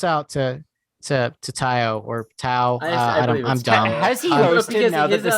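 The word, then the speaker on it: Taio: uh yes david it's definitely pronounced tayo because his next album is called t y dot oh oh cool i would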